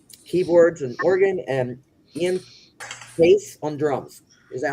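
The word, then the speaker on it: Paice: bass Lord on keyboards and organ and Ian Pace on drums. Is that how you say his name? Pace. Yep. Yep. I thought it was Italian. Poache.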